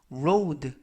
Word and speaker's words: road: 이번 표현은 road 라고 발음하시면 되겠고요. 품사는 명사, 뜻은 도로라는 뜻을 가지고 있습니다. 우리가 앞에서 배운 단어 load, 그 단어는 load, 짐이라는 뜻이 되겠고요. 이번 단어는 road, R 발음 road, 뜻은 도로라는 뜻이 되겠습니다.